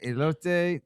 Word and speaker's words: elote: Is that elote, churro, turkey leg, or funnel cake?